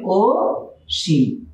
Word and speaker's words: অসীম: তো অসীম দ্বারা যদি নাম বোঝায় তাহলে এই অ কিন্তু আর অ থাকবে না, অ ও হয়ে যাবে, তাহলে এর উচ্চারণ লিখতে হবে ও সীম।